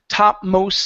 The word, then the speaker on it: topmost: okay so um here because we have an S or a consonant and then a consonant on the other side of the T we are going to drop the T okay so instead of saying uh topmost spray we're going to say topmost spray connect the sounds the topmost spray good